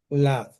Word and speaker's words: Ladd: Así se pronuncia en inglés y en español, igualito. Lad, Lad.